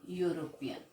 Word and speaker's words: European: is pronounced as european so it is starting with y so that's why we